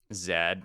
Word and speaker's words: Z: He pronounces his name like that. And it's a name, so you should pronounce it the way he pronounces it. That's how names work.